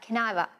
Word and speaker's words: can I have a: can have a minute caniva means and we pronounce it like can i have a or can i here you are